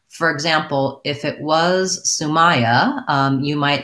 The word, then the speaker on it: Sumaya: So based on how your name is spelled, I would guess that it's Sumaya. The A-I-Y is not a convention that we have in spelling in American English.